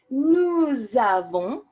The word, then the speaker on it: nous avons: Now again, that A that begins avons signals that that S that ends nous is normally not pronounced, but that is suddenly going to be pronounced to create that beautiful liaison. Nous avons.